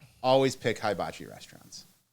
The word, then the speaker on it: hibachi: It's hibachi.